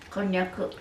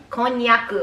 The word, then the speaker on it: konnyaku: Konnyaku. Konnyaku.